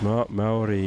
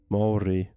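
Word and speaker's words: Māori: The proper pronunciation is Maori is very similar sounding. Moldy. So Maori. Except with R instead of ID.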